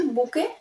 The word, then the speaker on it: bouquet: কিন্তু যদি আমাদের বলে বুকে, বুক BOOK বুক, কিন্তু বুকে বুকে বললে স্পেলিং কি লিখবো?